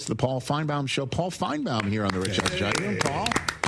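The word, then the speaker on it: Finebaum: uh the host of the Paul Finebomb show, Paul Finebomb here on the Rich.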